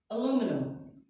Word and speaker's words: aluminum: Another good one I like is aluminum. This is the way we say it in America. Aluminum. Aluminum. The British, on the other hand, they say it with aluminium.